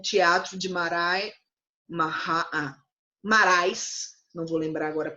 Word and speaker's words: Marais: outra companhia com o teatro de Maré narrar marais se lembra agora pronúncia e eles junto com essa companhia que